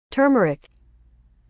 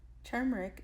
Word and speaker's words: turmeric: at Dollar Tree and you say it like this turmeric turmeric is a flower in